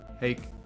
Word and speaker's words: Hake: Hey, Hack, how's it going? Or Hake. Hake rhymes with make.